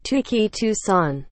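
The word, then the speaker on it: Touki Toussaint: Correct pronunciation. Tuki Toussaint.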